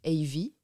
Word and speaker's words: Evie: la ville et donc mes initiales a et V il se trouve que j'avais une bande d'amis qui avait pour habitude de s'appeler par leurs initiales mais prononcer à l'anglaise du coup moi ça a donné Ivy donc ça fait longtemps